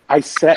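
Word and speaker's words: ISCEV: I just ask like how are we pronouncing this group's name is it isit isit like a biscuit or is it like ICT so it include on iev which is interational Society for clinical Electro physiology of vision that's typically I think we've been pronouncing it as IET I set oh nice okay I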